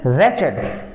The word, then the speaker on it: रैचेड: This is रैचेड, this is रैचेड, डब्ल्यू यहां पर क्या है, साइलेंट है, डब्ल्यू यहां पर साइलेंट है, इसको रीड करेंगे हम, रैचेड।